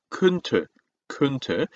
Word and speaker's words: könnte: 자, 참고로 오 umlaut 발음은 우리가 지겹도록 같이 했었죠. 오 한 상태 소리만 이니까 그러니까 왜하고는 다릅니다. 그래서 캔이 아니고 könnte, könnte.